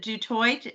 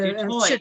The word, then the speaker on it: Du Toit: Okay, and is it Dutoit? How do you say your last name? In South Africa, they say du toit. So Dutoit, no T. Okay, Dutoit. Du toit, the French way, but anyway.